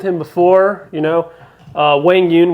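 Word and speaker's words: Quang Duong: before, you know, uh, Wang Yun, which is, by the way, is how we're pronouncing Quang Dwang now. We've all been just butchering his name for the last year and a half. Finally, finally, everybody, it's it's Wang Yun is my understanding of it.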